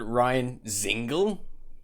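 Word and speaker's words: Ryan Dzingel: move on keep going yeah uh veteran forward ryan zingle that's how it's pronounced ryan is ingle is headed to the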